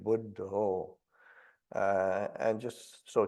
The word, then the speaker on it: Buddha: of the Buddha, and when they pronounce it, it's with an O at the end, Buddha.